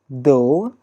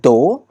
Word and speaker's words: though: that pronunciation part although though look at him though though though although though even though not even a doe but even though okay there is a